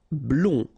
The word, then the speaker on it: blond: Blond. Final D not pronounced.